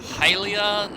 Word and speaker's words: Hylia: video telling me that it's pronounced like heylia not gilja something along those lines